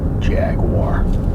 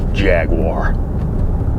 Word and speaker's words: Jaguar: A500 jag jag J you've got to really loosen your bottom jaw and then you can say it like an American Jaguar Jaguar apart from the price